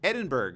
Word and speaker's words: Edinburgh: Is that how you pronounce it? Edinburgh, yeah.